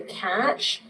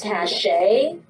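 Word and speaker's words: cache: feel that way um I say clear the catch Kate says cash what do you say how do you pronounce it c a c h e Cash Cash just could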